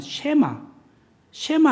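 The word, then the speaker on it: שמע: 그래서 이게 샬롬이란 게 아니라 이거는 무엇이냐면 쉐마 할 때 W처럼 생겨. 그러니까 이게 W가 시옷 발음 나요.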